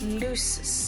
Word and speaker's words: Lucis: So it's Lucis, that's how it's pronounced.